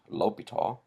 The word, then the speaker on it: L'Hôpital: you ordered Portillo's now some books actually spell it with an S some take the modern French approach which is which is to get rid of the s either way it's still pronounced Lobito in fact it helps if you can affect an obnoxious fake French accent look people of course